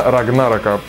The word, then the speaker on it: Рагнарок: Да, именно Рагнарока. Хотя лично я привык к другому ударению.